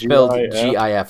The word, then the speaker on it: GIF: yeah yeah yeah yeah it's gif like giraffe like a like a